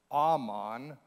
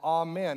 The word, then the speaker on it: amen: So in Hebrew, it would be pronounced more like amon, but it's amen.